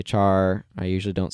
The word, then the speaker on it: char: short for character so some people pronounce it car I usually say char I usually don't say